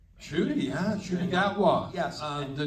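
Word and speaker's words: Ncuti: So now, and you told me that, and you'll have to pronounce his name, Shooty. Shooty, yeah, Shooty Gatwa.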